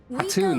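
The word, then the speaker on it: Khatun: Sadu Hatun, no. Hatun, that's how you say it.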